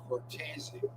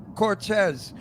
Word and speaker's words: Cortese: The correct pronunciation is Cortese. Okay, Ron's right. I told him that I'm Italian. I know. I speak Italian. His name yeah? is Cortese, and he was calling you Cortez.